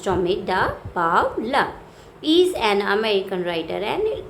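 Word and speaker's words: Tomie dePaola: Uh, Another we can say Tommy da Pavla, pronounced Tommy da Pavla, is an American writer and illustrator.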